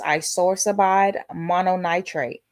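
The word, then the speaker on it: isosorbide mononitrate: The pronunciation of the generic is isorsabide mononitrate.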